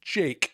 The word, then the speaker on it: JVKE: So there's a tune that everyone needs to Google because it's gorgeous, called "Golden Hour" by a guy named Jake, which is spelled JVKE because 2023.